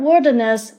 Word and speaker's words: wilderness: the first noun Wilderness the word Wilderness is stressed in the first syllable as you've already known